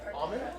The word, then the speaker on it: almond: Like when you say almond. Almond? No, it's not almond. It's almond. The L is silent.